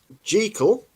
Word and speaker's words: Jekyll: well by the way G call as in treacle that's Robert Louis Stevenson's pronunciation the stage play created